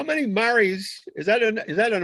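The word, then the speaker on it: mares: interland wow how many mari's is that is that an american word only m-a-r-e-s no that's an italian word okay that means c spelled the same as a female horse but pronounced totally different yeah it is and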